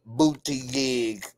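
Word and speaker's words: Buttigieg: Damian Kenny, you said is pronounced Pete Booty Gig.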